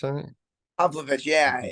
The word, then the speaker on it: Pavlovich: Pavlovich, I think. Pavlovich.